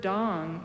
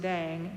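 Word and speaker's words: དང: The word dong is actually, yes, some people pronounce it dang. No, it's not dang. It's always the A in father in Tibetan transliteration.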